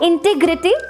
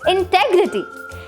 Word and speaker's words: integrity: It's not integrity, it's integrity.